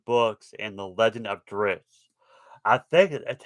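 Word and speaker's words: Drizzt: internet are pronouncing it drizzy but i don't see how they'll be pronounced that way because there is no letter between the z and the t and actually if you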